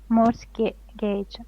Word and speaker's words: mortgage: last word is Mor Mor Gage Mor Gage Mor Gage morgage morgage T is not pronounced yeah yeah it means